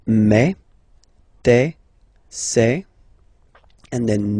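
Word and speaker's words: mes: Okay, so for the phonetical or pronunciation aspect of it, then remember that this es here combined will give you the sound eh. Okay, so you'll pronounce it like me, me, me.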